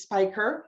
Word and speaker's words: Speicher: hours exactly well first and foremost um it's spiker i just want to make sure um it's